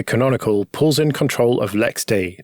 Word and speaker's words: LXD: pulls in control of Lex D that's how you say that as an lxd it's spelled yeah yeah